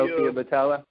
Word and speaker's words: Boutella: Sophia Boutella. Boutella, yeah.